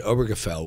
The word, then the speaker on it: Obergefell: jokes um no what i'm wondering you mentioned obergefell which by the way is a word i can i am amazed i just pronounced it properly obergefell um sounds like yiddish